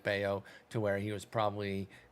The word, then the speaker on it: Bello: but it is Oh, it's pronounced Bello. Bayo for those that don't Yeah.